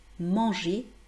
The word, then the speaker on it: manger: encore une fois, pour les personnes qui disent\mɑ̃.ʒɛʁ\ pensez bien que c'est faux, c'est manger \mɑ̃.ʒe\ et nous avons le